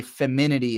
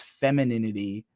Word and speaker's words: femininity: the embracing girliness video where I say feminity about a hundred times not knowing its femininity um so yeah there's